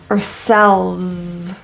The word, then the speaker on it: ourselves: defend ourselves ourselves the word our is typically reduced to a quick s ourselves and the S at the end is voiced ourselves ourselves since these are